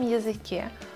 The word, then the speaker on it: язык: Под ударением она звучит как Я. 5. Но без ударения она превращается в И. Например, язык.